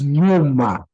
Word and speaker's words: nyuma: There is nyuma. Nyuma, which is also very hard to pronounce, but it's nya, nye, ni, nyo, nyu. Nya, nye, ni, nyo, nyu. So it's nyuma. Numa.